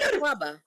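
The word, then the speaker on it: Akwaaba: aquaba aquaba I was right you just say aquaba aquaba means oh aquaba yeah yeah what words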